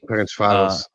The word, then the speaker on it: Ferencváros: But he plays for, and this is another pronunciation attempt. Let me know how I do. But he plays in Hungary at Ferencvárosi. Ferencváros.